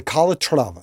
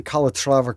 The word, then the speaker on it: Calatrava: That watch, gentlemen, is the Calatrava. I think that's how you pronounce it.